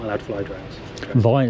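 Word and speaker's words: Vyne: Vine, is that how you pronounce it? The Vine, yeah. Right, it says Vern on the way up. Got it wrong.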